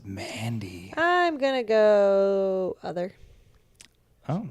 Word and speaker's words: Mandy: to dance for me you're not saying it right it's Mandy I'm gonna go other